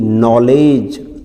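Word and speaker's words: knowledge: के एन ओ डब्ल्यू, के बाद फिर वही एन आ रहा है, के एन ओ डब्ल्यू एल ई डी जी ई, नॉलेज।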